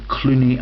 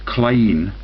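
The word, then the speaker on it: Cluny: you know what its name was no the Clooney Abbey so that's all the George Clooney output yeah it's actually pronounced kleene H and that is the biggest joke in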